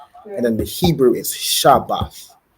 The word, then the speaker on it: Shabath: so it's Sabbath and in the Hebrew is shabath right okay and then another word I want